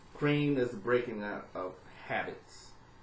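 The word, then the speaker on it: Kreem: pretty short pause there when I say clean I want to cream our coffee I think y'all know what I meant but it's not felt that way it's spelled KR e edom clean cream is breaking out of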